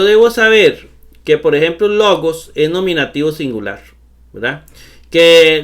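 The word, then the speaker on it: λόγος: En este caso, todas las palabras llevan el acento en la penúltima sílaba. Logos, logos.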